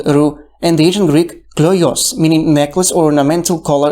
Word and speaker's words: κλοιός: On the other, in modern Greek, the word kloios, pronounced klios, is applied to an encircling object in general.